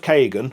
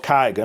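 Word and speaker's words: Kaigen: This, since I read Sword of Kagan, or Kaigan, I know people pronounce it differently, and also Blood Over Brighthaven, that have got that very like Japanese-inspired feel.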